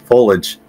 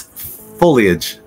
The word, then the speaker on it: foliage: The incorrect way, but the way I pronounce it, is foliage. The fall foliage is beautiful, but it's foliage. Foliage. Oh, we said foliage. It clearly has the Leah in there, and I refuse to pronounce that part.